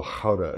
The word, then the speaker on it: Gouda: Or an aged Gouda, or Gouda, as they say in the Netherlands.